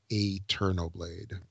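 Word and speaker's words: AeternoBlade: That's how I would say. It's A-E-T, so that's Eterno Blade.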